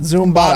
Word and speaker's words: Zumbado: I was like, Zumbado. That's how we pronounce it. Zumbado.